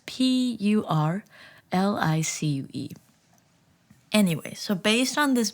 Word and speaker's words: purlicue: It's Purlicue.